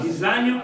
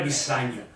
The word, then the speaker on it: Bisagno: E è in italiano una S sonora. Bisagno. Non è Bissagno, Bisagno. Sonora.